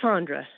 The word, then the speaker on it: Sondra: It's Sandra. More of a long O, like Sonic.